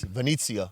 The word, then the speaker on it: Venezia: Venice, the football club Venezia. Uh-huh. Venezia, if Okay. that's how you pronounce Yeah, it, right?